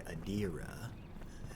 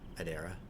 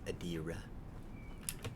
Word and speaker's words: Edera: of it but basically adira as it was pronounced in the cutscene um is being ripped asunder by also said large political mostly wait how did you pronounce it before adera oh okay but apparently it's adira adira um so yeah apparently